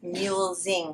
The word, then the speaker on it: mulesing: which is 100 mulesing I realized I I pronounced it incorrectly in the last video I put an extra l in it's mule Zing free whoa oh my goodness